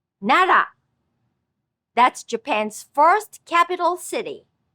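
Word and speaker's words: 奈良: Let's practice this R sound with Nara. Nara.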